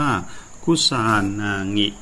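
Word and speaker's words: 草薙: ที่ หรือ นาย ตง อิง ออก เสียง ว่า คุซานางิ คุซานางิ ดาบ พุชา นางิ ถือ เป็น ดาบ มี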